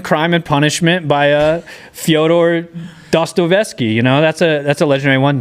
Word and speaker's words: Dostoevsky: And then we're also gonna throw in Crime and Punishment by Fyodor Dostoevsky.